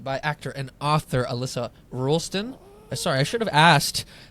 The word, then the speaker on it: Roulston: Today I'm joined by actor and author Alyssa Rolston.